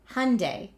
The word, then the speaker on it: Hyundai: And they said to me in my training officially here in the United States, we pronounce it Hyundai. Think Sunday, Monday, Hy Sunday if you get confused.